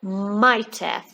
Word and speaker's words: might have: Which sound is silent? Yes, I say might have, so I don't pronounce the h sound.